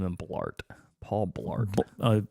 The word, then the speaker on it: Blart: have to name him Blart Paul Blart it rhymes with fart Blart fart it's like bloat and fart yeah combined bloated fart